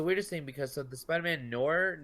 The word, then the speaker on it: noir: Okay, so Spider-Man Shattered Dimensions, great game, but the weirdest thing, because the Spider-Man Noir, how do you say that section?